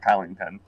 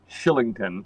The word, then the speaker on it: Kylington: kylington kylington thank you no it's actually not kylington well you know how you say that name how do you say it Chris because I I know you and her it's Oliver Shillington Shillington okay thank you well